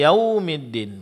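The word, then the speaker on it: يَوْمِ الدِّين: Di sini pengucapan huruf kaf dengan sifat hamasnya itu dijelaskan yaumi wau sukun sebelumnya fathah. Ini adalah huruf lin. Jelaskan huruf linnya dengan memberikan sedikit tekanan pada huruf wunnya. Yaumiddin.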